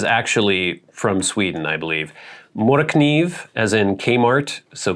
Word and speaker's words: Morakniv: Correct pronunciation, Mora Kniv. Yeah, I think I watched an actual publicity video from Mora, and they said, I can't say it exactly how they say it in Sweden, but it's like Mora Kniv, Mora Kniv, Mora Kniv.